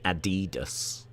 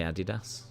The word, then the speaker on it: Adidas: That's the Adidas word that Days says. That's how it's pronounced here. That's how we pronounce it. I know you lot say Adidas, but we say Adidas.